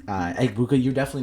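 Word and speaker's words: Egbuka: No, Ibuka. Ibuka. I believe it's E G B U K A. Ibuka. Uh I apologize if I pronounced that wrong. Uh Eggbuka, you're definitely not watching this video.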